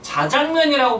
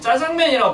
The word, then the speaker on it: 자장면: 효과라고 발음하기 잘 봐봐 아나운서들 말하는 거야 자장면이라고 발음하지 짜장면이라고 발음하지 않아요 국립어원에서 발표하기를 자장 플러스 면이기